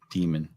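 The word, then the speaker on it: daemon: Rancher, the word is pronounced demon. If you pronounce it Damon, you're saying it wrong.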